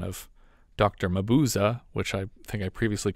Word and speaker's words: Mabuse: Thanks to Stephen for the correct pronunciation of Dr. Mabuza, which I think I previously called Mabuse.